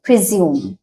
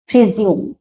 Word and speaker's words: presume: হবে আর পি আরই এস ইউ এমই এখানে উচ্চারণটা হবে প্রিজিউম প্রিজিউম এখানে এই সাউন্ডটা আসবে আর প্রিউম এরকম সাউন্ড